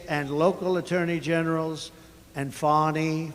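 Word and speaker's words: Fani: local attorney generals and fonnie fonnie you know fonnie spelled f a ni I my name is FY F A ni I I don't figure it you put a little French Accent on the word with her lover Wade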